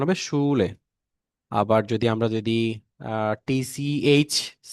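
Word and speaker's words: Schule: এটা তাহলে আমরা SCH, SCH যেটা হয় সেটা স এর মতো উচ্চারণ হবে, SCH, স। অর্থাৎ আমি যদি এটা কোনো এক্সাম্পল দেই, এক্সাম্পল যদি দেই সেই ক্ষেত্রে আমরা দেখতে পারবো যে সি, শুলে, হ্যাঁ, শুলে, এটার উচ্চারণ হবে শুলে।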